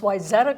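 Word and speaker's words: Wayzata: was from here you know being blonde I pronounced y Zetta correctly you got the name you know I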